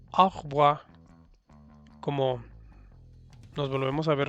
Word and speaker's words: au revoir: Ahí tú lo puedes ver que dice au revoir, pero lo pronuncias au revoir, como nos volvemos a ver luego.